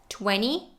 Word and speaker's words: twenty: middle of the word it can be either e or the schwa twenty 20 20 20.